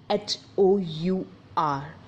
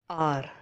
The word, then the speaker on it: hour: So our next word is H-O-U-R, which was pronounced as hour, but its real pronunciation is R.